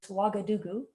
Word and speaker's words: Ouagadougou: I know this word looks a little bit weird to pronounce, but you would call this Ouagadougou, or Ouaga for short, if you're in the know.